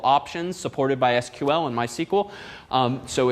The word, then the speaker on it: MySQL: called mysql once and they do in fact pronounce themselves uh mysql not my sequel which frankly i find